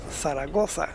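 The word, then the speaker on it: Zaragoza: right on the thoa you have to remember that the Zed is pronounced like a th so it is saraga turn right still got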